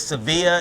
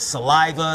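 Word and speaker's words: Sevilla: it correct so Kudos well my last name is my last name is seevilla and I get saliva Savala sevil so I try to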